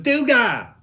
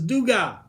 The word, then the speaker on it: Dugas: It's Duga! You don't say the S, it's Duga.